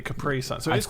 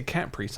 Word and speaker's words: Capri: didn't understood that Capri is a place that's pronounced that that's supposed to be Capri probably is yeah Capri is a why do we say cpri I don't know we're English stuff like that